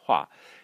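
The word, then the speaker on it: 化: a standalone character, and it means to change, and it's pronounced hua. So it's pronounced almost like this, the way you pronounce it is almost the same as you pronounce hua, flower, and that's why this element is in this character.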